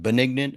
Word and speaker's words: benignant: I couldn't pronounce benignant, but benignant. I think it's pronounced like it's the opposite of malignant, benignant, I think.